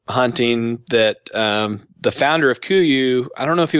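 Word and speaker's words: Kuiu: Spell that. Kuyu, K-U-I-U.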